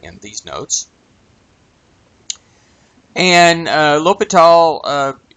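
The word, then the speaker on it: l'Hospital: deop in 1696 u the S is silent in his name looks like hospital but it's lital and some people will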